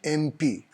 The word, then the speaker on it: MP: Modi is an MP. अब यहाँ देखिए MP, M A से उच्चारण हो रहा है, तो अगर आप कहेंगे AMP, it is wrong. It should be an MP.